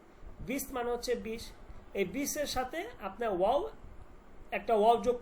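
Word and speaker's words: سی: 30 কে বলবো আমরা সি। এই যে এখানে আছে সি। সিন ইয়া সি। সি মানে হচ্ছে 30। সি মানে কি? 30। সে না কিন্তু।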